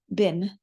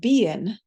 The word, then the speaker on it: been: Now, over time, the pronunciation has shifted so that we can avoid the slowness of this double vowel pronunciation, and we just get a single vowel, bin, as a result. But at one point in time, in older English, Middle English, we used to have the pronunciation of bein for this word, and that's exactly why